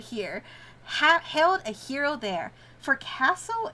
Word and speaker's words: forecastle: For castle is pronounced foxhole? Forksole? That's so fucked up. I hate that. I'm gonna be calling it for castle.